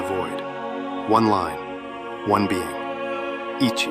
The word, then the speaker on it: 一: It is pronounced Ichi, and it is written with a single horizontal stroke from left to right.